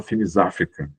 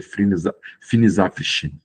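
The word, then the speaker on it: Finis Africae: Todo mundo fala Finis África, mas a pronúncia correta é Finis Apres.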